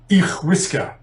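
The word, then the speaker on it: each-uisge: And apologies to any Scottish Gaelic speakers who are listening about my pronunciation, but I think it's pronounced something like Ichwiska is the Gaelic name and that translates as water horse.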